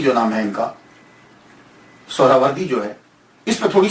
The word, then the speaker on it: سہروردی: بڑی توجہ دینی ہے۔ ہم لوگ اکثر بول دیتے ہیں سہروردی، سہروردی، یہ اکثر ہم بولتے رہتے ہیں۔ میں غلط نہیں کہتا، لیکن ذہن میں یہ تو ہونا چاہیے نا کہ اصل پروننسیشن، اصل تلفظ کیا ہے۔ اصل میں یہ سہراوردی یا تو نسبتی ہے، تو لفظ جو ہے وہ سہراورد ہے، سہراورد، سین کے اوپر پیش، پہلی ہا، یہ ہا ساکن، را